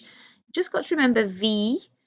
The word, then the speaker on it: wie: You just got to remember wie, so it's a V sound, not a W, so it's not we, it's V, and it's not Y, it's I-E, so E, V. Remember we pronounced the second of those combinations, so I-E pronounced E.